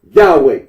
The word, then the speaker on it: Yahweh: Current scholarly consensus generally reconstructs the name's original pronunciation as Yahweh.